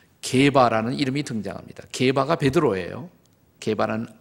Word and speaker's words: 게바: 게바는 아라믹식으로 발음하는 것이고 페트루스, 베드로는 히랍식으로 발음하는 것입니다.